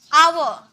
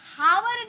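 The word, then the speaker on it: hour: हम बोल रहे हैं जब भी हम हावर नहीं बोलते इसे हम हावर नहीं बोलेंगे आव एच साइलेंट होता है एच चुप रहता है साइलेंट लटर वाले क्लास में मैंने करवाया था एच चुप रहता है है बोलता नहीं है आव आ का साउंड आता है यानी कि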